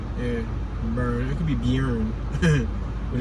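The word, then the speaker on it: Beirne: It's Burn. Yeah, Burn. It could be Bjorn, but it's Burn. It could be Bernie if you want to pronounce the E, but I think the E silent. So it's Burn.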